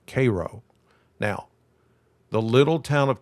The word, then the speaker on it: Cairo: That's how you how you say it. Like Karo syrup, k a r o, Cairo.